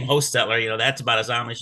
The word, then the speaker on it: Hochstetler: I pronounce it in our family line, pronounce it Hochstetler with a long O. But it's spelled 4 or 5 different ways. Some people pronounce it Hochstetler. Some people pronounce it Hostetler with a D.